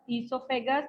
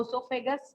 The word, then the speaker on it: esophagus: This pipe is known as esophagus or esophagus, both you can pronounce.